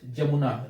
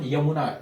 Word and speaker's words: Jamuna: In India, it is known as Brahmaputra, and when it enters Bangladesh, it is known as Jamuna. Remember this, it is not Yamuna. Yamuna is spelled as Y-A-M-U-N-A, and here we have Jamuna, J-A-M-U-N-A.